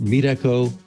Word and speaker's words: Meetecho: with lorenzo miniero of meat echo which is pronounced other ways as well but it says meet and echo together so you can think